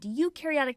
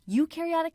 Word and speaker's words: eukaryotic: We explain the differences between prokaryotic cells and eukaryotic cells using the popular mnemonic that pro rhymes with no and eu rhymes with do.